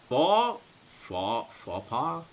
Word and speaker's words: faux pas: Faux pas? I don't think the X is pronounced.